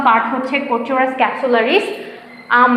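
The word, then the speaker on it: Corchorus capsularis: যেমন ধান, দেখো আমি জাস্ট স্পেলিংটা ইয়েটা বলে দিই, উচ্চারণটা বলে দিই, প্রোনাউন্সিয়েশন। ওরাইজা sativa, ওরাইজা sativa. পাট হচ্ছে কোচোরাস ক্যাপসুলারিস।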